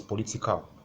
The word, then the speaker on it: political: Then the next one is political. So it's ending in al. So we need it for words ending in al. You need the third syllable from the right hand side.